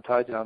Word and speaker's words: Tyjon: You hit it correctly on Tyjon. That's how you say his name.